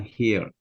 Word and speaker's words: health: Spending time with family is important for my mental health. This pronunciation, health. Yeah. Health. Como con una aspiración al final.